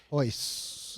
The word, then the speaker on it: Royce: Hoist. I think the R's are pronounced as like an H.